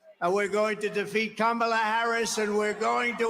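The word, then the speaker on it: Kamala: it right that time he said it right that time he knows how to America great again and it's going to happen fast he has to think about how to say it wrong that's why he says comea in less than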